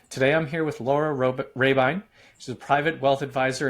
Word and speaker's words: Rahbein: And my name is Laura Rahbein, and the company name is Impavid Wealth Advisors.